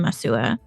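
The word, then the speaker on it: Massawa: Acuna, that was in Masua. I think that's how you say it. Which Masawa? is a city. Yeah, it's like pronounced like a W.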